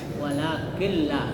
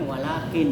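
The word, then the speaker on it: ولكن لا: Jadi nunnya itu diganti menjadi lam. Jadi dimasukkan walakilla. Jangan walakin ya tapi walakilla dan tidak mendengung ya atau ditasdidkan itu huruf lam walaqillah.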